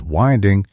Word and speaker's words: winding: It is winding as in the wind that blows because the traditional method